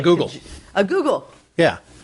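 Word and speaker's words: googol: Like a google.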